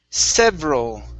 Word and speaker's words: several: last one here is several several okay the e after the v we're going to uh make silent several several okay there